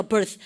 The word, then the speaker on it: birth: place of 뭡니까 birth. 아시겠죠? 우리 혀 어떻게 하셨어요? 성대를 혀를 입 사이로 쑥 내쉬고 성대 올리지 마시고 발음을 갖다 하세요. birth.